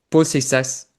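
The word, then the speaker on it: Seixas: Voy a escuchar la de Paul Seisas y os digo cómo la pronuncia. Paulisas.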